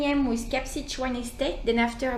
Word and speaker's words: Kaapzicht: I don't know how to pronounce Kaapzicht. Correct? Kaapzicht. Kaapzicht.